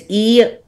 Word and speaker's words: erythritol: I cannot pronounce it. It's like erythritol. Do you know what I'm talking about? It's erythritol.